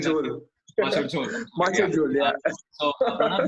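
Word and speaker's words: Macher Jhol: If you're in Kolkata, we are going to target audience who like Machar Jhal. Is that right? Am I pronouncing that Machar Machar Jhol.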